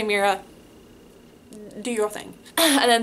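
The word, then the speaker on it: Meira: M E I R A. Got Kira with an M. Pronounce it however you want. I say Mera.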